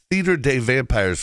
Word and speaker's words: Théâtre des Vampires: And just to let you know, for the sake of my sanity, we're going to pronounce that Theater des Vampires from here on out. I gave you the correct pronunciation once.